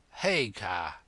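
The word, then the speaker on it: Haigha: names his name is haa he pronounced it so as to rhyme with Maya I love my love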